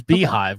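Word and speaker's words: beehiiv: beehive and substack so here's beehive which is spilled spelled not at all like how it's pronounced and again same format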